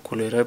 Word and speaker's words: cholerae: Vamos a tocar primero la tabla del contenido de Vibrio cholerae o cholerae pronunciado propiamente y recuerden que siempre va subrayado y la primera en mayúsculas.